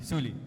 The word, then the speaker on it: Suli: Now, Suli, correct? Am I pronouncing it correctly? Yeah, you're pronouncing it correctly. Suli. It's Suli.